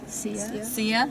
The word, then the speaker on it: Sia: by sia is that how you say it see ya yes she wrote that song yeah but it